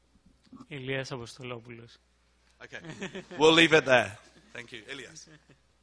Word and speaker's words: Ilias Apostolopoulos: Actually, tell me how to pronounce it. It's Ilias Apostolopoulos.